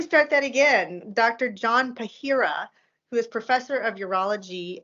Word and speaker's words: Pahira: Dr Joseph Joseph John no John Dr John Pariah did I say it right PIRA PIRA I let me start that again Dr John pahira who is Professor of Urology in Georgetown uh